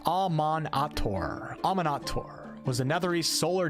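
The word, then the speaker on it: Amaunator: Pronounced Amon-Ator.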